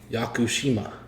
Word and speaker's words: Yakushima: Tsunuki Yakushima.